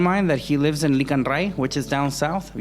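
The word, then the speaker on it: Licán Ray: I was like, Rick and Morty, ¿qué, güey? Okay. Like Rick and Morty. No, Licanray. Okay. It's spelled Ray.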